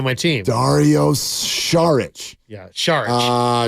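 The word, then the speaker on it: Šarić: weekend you guys know it's not sarich it's Char you're an info guy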